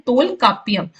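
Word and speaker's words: தொல்காப்பியம்: इसका नाम तोल कापिया इसे हम प्रोनाउंस करते हैं तोल कापिया और ये लिखिए तोल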